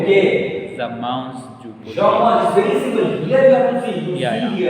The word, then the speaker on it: mange: So manger, you use je mange, tu mange. Yeah. But you are not pronouncing mange. Yeah. You are pronouncing something else.